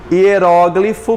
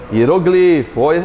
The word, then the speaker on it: hieróglifo: Hieróglifo pode ser pronunciado como, gente? Hieroglifo.